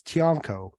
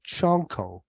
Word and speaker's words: Tianko: last name which is tianko yeah but uh sometimes like the Filipinos they pronounce it chunko so kind of like CH so in Spanish there's